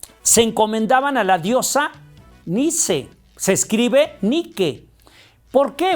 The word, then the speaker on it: Nike: se escribe nique nique la las personas lo pronuncian pensando que está en inglés y dicen Nike sin embargo fíjate que no es Nike es Nice se escribe Nike se pronuncia ni y Qué significa este